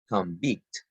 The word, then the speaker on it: convict: Convict. Why be? Because convict is a noun that the stress is the first syllable.